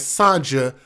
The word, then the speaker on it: Sonja: She was identified by family as Sonja, and I think they pronounced her name as Sonja, S-O-N-J-A. Sonja, not Sonja, Sonja Star Harrison of Atlanta.